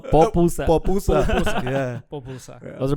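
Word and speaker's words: pupusa: so I had a papusa today. Did you? Yeah, it's good. Is that how you say it? No, popusa.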